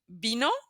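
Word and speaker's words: vino: that it's B okay moving on to letter B which uh is exactly the same as letter V they're identical twins in pronunciation so you will not hear a difference let me show you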